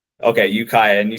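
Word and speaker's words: Ukiah: Jacob Brock and uh do you want to pronounce the name of the this town or city you're from again Jacob? It's Ukaya, California. Okay. Ukaya.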